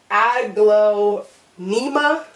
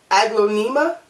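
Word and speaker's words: Aglaonema: glow NEMA igloo NEMA that's how how I pronounce it but I don't think that that's right I think it's pronounced differently cuz if you look at the term you look at the word it is spelled differently then how I'm pronouncing it but I'm pronouncing it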